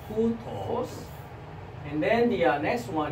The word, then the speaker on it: οὗτος: And rough breathing mark pronunciation changed to H sound, right? Which is the throat sound. And then you see the rough breathing mark above the whip synonym, so οὗτος, right? οὗτος.